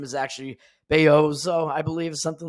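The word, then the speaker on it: Bellozo: Mexican so his uh you need the Spanish pronunciation and not the Italian pronunciation so his name is actually beoo I believe something like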